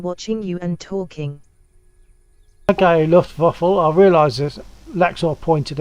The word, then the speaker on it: Luftwaffe: I think it's pronounced Luftwaffe instead of waffle.